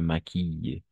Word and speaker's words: maquille: Et je me maquille. I, Par exemple, alors, n'oubliez pas ça. Cette, hum, cette combinaison, d'accord? Double L. Toujours, on va prononcer I. Maquille, réveille, habille, je m'habille.